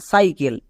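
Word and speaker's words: cycle: আরো দেখো যেমন সাইকেল এখানেও সি আছে কিন্তু সি এর পরে ই আই ওয়াই থাকলে দন্তস হই সি এর পরে দেখো ওয়াই আছে সি এর পরে ওয়াই থাকার জন্য এখানে সি এর জন্য কয়নি সি এর জন্য কি হয়েছে দন্তস তাই এর উচ্চারণটা কি দাঁড়াবে সাইকেল সাইকেল কেন কারণ সি এর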